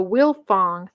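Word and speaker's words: Wilfong: frye family the f-r-y the barkley family the will fong family and i'll spell that one as w-i-l-f-o-n-g and the huffman family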